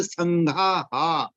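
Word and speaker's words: संघाः: विसर्ग के साथ उच्चारण का ऐसा नियम है, जो मात्रा है वैसा ही लगता है। अ है तो ह ऐसा उच्चारण होगा, आ है तो हा होगा।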